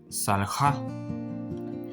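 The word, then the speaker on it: סָלְחָה: Entonces, aquí se pronuncia como salja, que significa perdonó, pero refiriéndose a la tercera persona femenino, es decir, ella perdonó.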